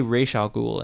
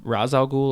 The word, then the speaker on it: Ra's al Ghul: al Ghul they say racial Google in Gotham and then if you look up the actual pronunciation of Ra's al Ghul it says Ra's al Ghul or racial Google it's super weird I'm